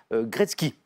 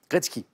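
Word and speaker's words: Gretzky: de Great One meilleur c'est Wayne comment on prononce Gretsky Gretsky g r e t Z K i Wayne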